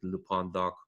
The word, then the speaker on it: LPondoc: That's LPONDOC, not LPondoc like the luchador. Sadly, I'm not. So technically, I should be pronouncing it Lupondoc, but this is I made this Twitter account.